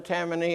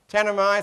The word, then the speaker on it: Tanami: And the Tammany, if I got the pronunciation right, Tammany Desert Road through there. Tanami, thank you.